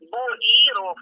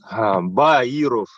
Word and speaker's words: Баиров: Баиров Геннадьевич. Ольга Ира в середине. Первая Борис. Боиров, правильно? Баиров.